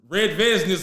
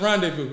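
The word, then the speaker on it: rendezvous: I was talking about red vegness or whatever. I couldn't even pronounce that. It's rendevu the whole time like a fool.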